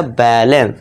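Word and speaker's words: balance: बैलेंस।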